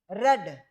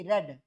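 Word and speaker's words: read: being books are being रेड verb की third form क्या है रेड आर ई ए डी रेड आर ई ए डी रेड रीड रेड रेड spelling same है बोलने का तरीका अलग है रीड रेड रेड इन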